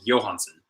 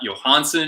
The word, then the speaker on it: Johansson: the way you want to know how to pronounce the Swedish version of Johansson it's Johansen so Johansen that it's not Johansson it's not Johansson it's Johansen um I have